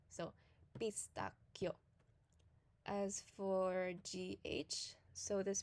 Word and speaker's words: pistacchio: So whenever you see a CH and GH, it means that you would pronounce a hard C and a hard G. So for instance, what we call in English a pistachio, in Italian would be pistacchio.